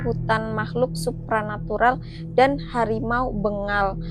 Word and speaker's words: Bengal: makhluk supranatural dan harimau Bengal. Aku bacanya harimau begal. Aku pikir begal kan ya kali harimau begal.